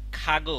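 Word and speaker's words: 가구: এখানে উচ্চারণ কি এইযে এটার উচ্চারণ তো খ তাই না আর এটার উচ্চারণ হবে এখানে গ আর নিচে বসতে হবে ক হবে আর কি তো সেটা বুঝাচ্ছে পরে তাহলে এখানে হচ্ছে উচ্চারণ খাগু অর্থ কি খাগো অর্থ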